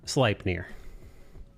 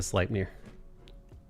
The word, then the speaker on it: Sleipnir: we haven't seen yet it's pronounced sleipnir you're a vlogmere i'm feeling like a slight mirror slight mirror it's pronounced light near if you struggle with it zendaya good